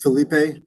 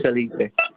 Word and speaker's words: Felipe: way mr felipe i assume that is that pronunciation correct felipe yeah my first name is my last name is felipe okay thank you um then after the testimony